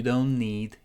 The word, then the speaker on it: don't: You don't need to, okay, this T is silent. We're connecting don't and need. You don't need, I'm not pronouncing that T.